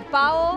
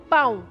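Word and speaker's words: pão: ¿Pao? No, hay una acentuación arriba. Ah, mirá. Esa no la teníamos. Bueno, pero... Pero la pronunciación... Pau.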